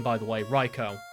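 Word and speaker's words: Raikou: So, yep, I know for a fact that is Reicho. And that is how you say his name, by the way. Reicho.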